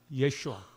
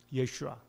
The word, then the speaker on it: 예슈아: 공식적으로 불려지기 시작했습니다 여러분 히브리어로 예수를 뭐라고 하는지 아세요 우리가 예수라고 부릅니다 이스라엘에 가서 여러분들이 예수를 아십니까 히브리어로 발음을 할 때 예수라고 말하면 그 사람들은 구를 말하는지를 거예요 야 예슈아 예슈아 이스라엘 사람들은 예수를 슈아라 부릅니다 중국에서는 중국 사람들은 두라고